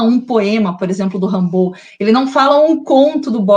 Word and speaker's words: Rimbaud: Depois ele fala do Rimbaud, que se escreve Rimbaldi, né? Que é um poeta francês, aí tem essa pronúncia, Rimbaud.